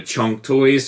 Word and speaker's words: Kang Toys: to my buddy YK, told me it's actually pronounced similar to Chunk Toys, but I'm never calling it that. I'm only going to call it Kang Toys.